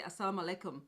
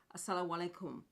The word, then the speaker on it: assalamu alaikum: then I know cuz I used to say asalaam alaikum but it's not actually that's not how you say it assalamu alaikum okay and also Sasuke carved marhaban medibot welcome